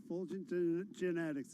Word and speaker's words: Fulgent Genetics: Wilson, your stock of the day, is it pronounced Fulgent Genetics? You got it. Fulgent Genetics.